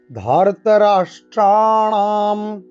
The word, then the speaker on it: ধার্তরাষ্ট্রাণাম: ধার্তরাষ্ট্রাণাম, এই রাষ্ট্রাণাম সব কিন্তু মূর্ধাবর্ণ, তাই একেবারে জীবকে উল্টো করে আমরা উচ্চারণ করব।